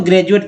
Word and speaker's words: graduate: उच्चारण होता है तो डी का यहाँ पर ज, तभी तो ग्रेजुएट पढ़ते हैं, नहीं तो ग्रेजुएट या ग्रेजुएट पढ़ते तो जो है उच्चारण गलत हो जाता है।